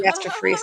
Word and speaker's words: gastroparesis: talking about the gastric um what's it called gastroparesis am I saying it right oh yes gastroparesis and I'm like we've always known that was